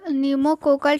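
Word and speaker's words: pneumococcal: form होता है निमो निमो कोकल ठीक है पी से स्टार्ट होता है प जो है इसमें साइलेंट होता है तो निमो कोकल पी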